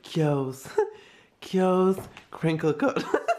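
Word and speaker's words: Keogh's: Kios crinkle cut. That's how it's pronounced.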